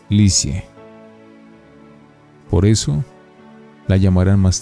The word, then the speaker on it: Lisieux: vivir a un pueblo llamado lipsius se pronuncia lisieux por eso la llamarán